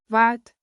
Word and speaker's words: wat: Wat like boot.